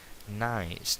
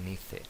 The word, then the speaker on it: nice: Nice, nada de nice. Nice, simpático, majo, agradable.